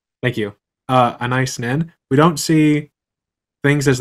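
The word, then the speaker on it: Anaïs Nin: There's a quote from your book, and it's Anise Nin, if I'm saying it right. Nice Nin. Thank you. Anise Nin.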